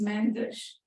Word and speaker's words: Mendes: Mendes." And I would pronounce the word Mendes several times, very slowly,